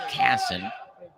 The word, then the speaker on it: Kasson: I've been saying Kaysen. That's Kasson.